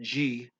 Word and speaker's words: de: Of is DE, same in Spanish, but they pronounce it G because any trailing DE is G in this language.